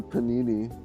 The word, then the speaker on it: Panini: against um what else oh the panini right that's how you say it Panini like like the sandwich like like the sandwich